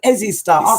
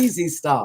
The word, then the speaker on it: Ezy Starr: He said Easy Starr. Simply spelling EZYST. I call it Easy Starr.